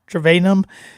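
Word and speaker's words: Trayanum: And then Chip Travanum, I believe is how you pronounce this. Trevanum.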